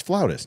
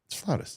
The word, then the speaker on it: flautist: So it's flautist, dude. It's flautist. That's what a flute player is. I've never heard it pronounced that way.